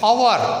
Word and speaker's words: hour: Now in case of hour, an hour, H-O-U-R, though the word hour begins with H letter, the first letter, but it is pronounced as hour.